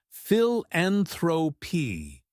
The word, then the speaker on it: philanthropy: Philanthropy breaks down as philanthropy. Notice the stress on the second syllable.